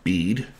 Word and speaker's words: Bede: written by saint bead that's b e d e apparently pronounced bead for clarity um i'm